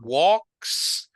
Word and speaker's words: walks: So walks, no L, walks in the mountains. Can you repeat the sentence again? My brother and I like to go on long walks in Sin the la L, mountain. sin la L, Walk. Ujú. Yo oigo L todavía ahí, solo como que si fuera walk. Oh, walks in the mountain. Ujú. Walks in the mountain. Muy bien, walks ya suena bien.